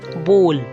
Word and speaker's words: bowl: Its correct pronunciation is bowl. Bowl, not bowl. It's called bowl.